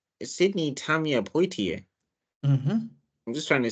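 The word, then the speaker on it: Poitier: it differently deliberately, but her name is Sydney Tama Poier. There's an I before the tier. So, yeah, it's po. Yeah. Sydney. Oh, okay. Yeah. Sydney P. Sydney Tamilia Poier.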